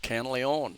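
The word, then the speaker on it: Canlaon: towns one of the towns canly own but it's spelled with a c instead of a k and yeah you need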